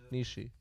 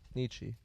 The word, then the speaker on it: Nietzsche: never known how to pronounce that word. Niche. It's niche. Niche. Niche. That's the Nietzsche. philosopher. Nietzsche. Nietzsche.